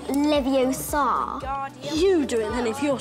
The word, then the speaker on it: Leviosa: of this Sage you're saying it wrong it's Leviosa not Leviosa you doing them if you're so clever go on go on Guardian Leviosa when I think of the sage in terms